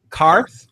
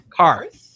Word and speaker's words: Qarth: They're from a city called Qarth. Qarth. I wanted to make sure I did it correctly. Qarth? No, not Qarth.